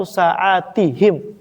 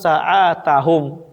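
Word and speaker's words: ساعاتهم: Berarti cara bacanya kasartu sa'atihim ti gitu ya. Sebagian orang mungkin dia lupa, oh ini dipikir dia mungkin isim mufrad. Jadi bacanya kasartus saatahum.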